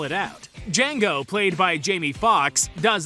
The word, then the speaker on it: Django: to spell it out Django played by Jamie Foxx does as the man asks and upon spelling it out he tells the man that the D is silent the man responds to